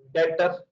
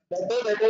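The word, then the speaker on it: debtor: डेटर, इसमें B silent है, तीन तो दफा बोलते डेटर, डेटर, मैंने बोला आप ही बोलते हैं ये मिक्सर में आएगा लेकिन टाइटली साइलेंट है।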